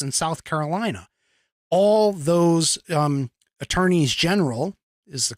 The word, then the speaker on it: Attorneys General: Arkansas Iowa Kansas and South Carolina all those Attorneys General is the correct way to say it I